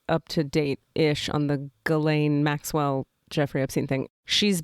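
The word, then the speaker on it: Ghislaine: say her name you're probably saying it it's galain yeah but you're right to not know how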